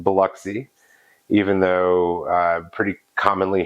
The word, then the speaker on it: Biloxi: uh outside of the southeast uh it is pronounced Biloxi even though uh pretty commonly here called bloxy and I would imagine that uh pole himself